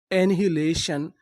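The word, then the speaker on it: annihilation: एनिलेशन, एनिहिलेशन, एनिलेशन।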